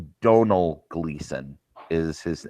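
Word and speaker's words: Domhnall: Oh, I've been saying Domino. Yeah. So have I. It's like this is. But I went and looked up how do you? It's one of those weird Irish Welsh pronunciation. Donal Gleason.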